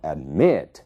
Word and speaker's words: admit: Então, admit, é ali que está a sílaba tônica.